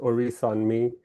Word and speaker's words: Orisanmi: My name is pronounced Oris on me.